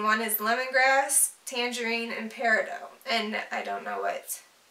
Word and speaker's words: peridot: how you say it most Gem and Jewelry tradesmen use pear a doe and some are very definite and calling the dot form as incorrect that makes no sense